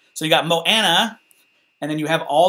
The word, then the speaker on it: Moana: So you got Moana.